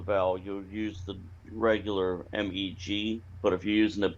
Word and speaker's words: Meg: Meg, M-E-G, sorry, is pronounced M-A-Y-G, which covers which, what.